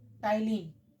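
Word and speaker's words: ptyalin: दूसरा होता है आपका टाइलिन ये पी साइलेंट है य टाइलिन ठीक ये टाइलिन होता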